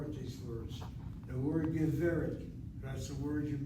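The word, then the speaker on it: גברת: And so the sego, and short vowel open syllable, accented. Geveret.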